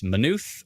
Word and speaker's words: Maynooth: 50 50 split on if it's minuth or maynooth ernie comes in with a it's a ma do not pronounce the y that's right folks grant